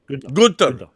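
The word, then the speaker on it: Günter: How do you pronounce Gunter in German? Gunter.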